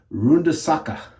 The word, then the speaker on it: Runde Sache: I'm very, very impressed with and I think I called it Runde Sache. I think the proper pronunciation is Runde Sache is the proper pronunciation.